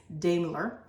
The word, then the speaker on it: Daimler: first automobiles in 1886 Gottlieb Daimler or damular but if I pronounced that right but I think it's Daimler perfected a gasoline fuel